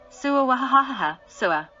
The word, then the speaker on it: swa: The mantra swa is pronounced as follows. Sua sua.